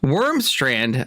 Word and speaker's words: Wormstrand: Norwegian name. And And No, Wormstran. Yes.